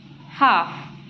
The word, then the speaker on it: half: ball F doll Hull in some words L is silent as in c y half so here L is